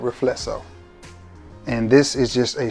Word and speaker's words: Riflesso: And it is from the house of Trussardi, and it is, some pronounce it Riflesso, some pronounce it Rightful So. We're gonna go with Riflesso.